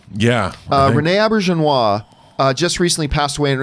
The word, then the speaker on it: Auberjonois: Star Trek shows now I always mispronounce is a last name but it's Renee a birch and wah yeah Rene Auberjonois just recently passed away